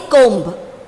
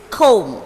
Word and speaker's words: comb: That letter will not be, there won't be sound for the letter. Okay. So comb. We won't say comb. It is comb.